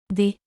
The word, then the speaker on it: des: But to say croissants in plural, we say Des croissants. Des croissants. in French the letter S at the end of day is not pronounced, is only pronounced when the next word starts with a vowel.